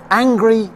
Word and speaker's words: angry: eat a hundred horses angry is when you're not happy with something and to help you remember that pronunciation consider the phrase I'm so angry at angles and that's it so